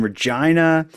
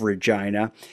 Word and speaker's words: Regina: well the fact that the city's name rhymes with the re with the female reproductive organ is maybe the only